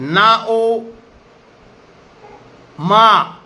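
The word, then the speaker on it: ὄνομα: इसका प्रोनाउंसिएशन है नाओमा, NAOMA, नाओमा, नाम, नेम, नाओमा।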